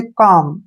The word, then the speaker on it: calm: जैसे next word है हमारे पास CALM, इसको हम पढ़ेंगे काम। क्या पढ़ेंगे, काम, कालम नहीं पढ़ना है, काम पढ़ना है।